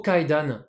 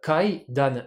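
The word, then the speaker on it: 階段: Le mot kaidan, l'escalier, on entend deux syllabes, kaidan, mais en japonais, on a quatre morts. Ka-i-da-un.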